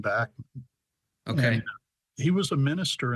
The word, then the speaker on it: Bachman: that was named after I think the family in that case pronounces their surname Bachman okay he was a